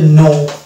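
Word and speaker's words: knee: কে সামনে রেখে এটাকে উচ্চারণ করবো তাহলে এর উচ্চারণ হয়ে যাবে নো নেক্সট ওয়ার্ড এরকম পেয়ে যাব আমরা কে এন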